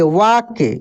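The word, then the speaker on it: walk: डब्लू ए एल के वा के इसको हम लोग क्या पढ़ेंगे वाक वाक वाल्क नहीं पढ़ेंगे एल नहीं क एल साइलेंट रहेगा वाक पढ़ेंगे वाक म टहलना टहलना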